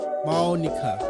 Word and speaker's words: Monika: Two is pronounced monika.